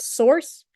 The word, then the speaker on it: src: We've got bin, we've got lib, we've got src, which is pronounced source.